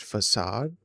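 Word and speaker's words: façade: Uh the word is pronounced facade.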